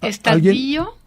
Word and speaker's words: estadío: emplea en dos casos Así es estadío estadío con acento en la i también existe como también